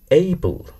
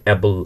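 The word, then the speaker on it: able: যেমন এইবল, এটিকে আমরা অনেকে অ্যাবল অ্যাবল অ্যাবল এরকম করে বলি।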